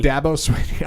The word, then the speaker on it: Dabo Swinney: he seconds before this segment started how to pronounce this Dabo Davos Davos Sweeney Swinney that's fine that devil Sweeney Dabo Swinney all right every every okay every February when